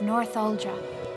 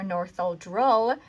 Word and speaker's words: Northuldra: For the rest of the video, I call the Northuldra Northuldran and or Northuldral, and it should be Northuldra, and I don't realize